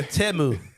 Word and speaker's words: Temu: As far as commercials were concerned, we know how to pronounce Temu now. It's, yeah, Temu.